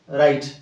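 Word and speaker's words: write: এইচ and itself যেমতি রাইট আর এ রাইট W silent whole W silent cable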